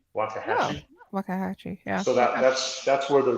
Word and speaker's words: Waxahachie: I don't know if I'm gonna pronounce it correctly, but Waxahachie. Waxahachie, yeah.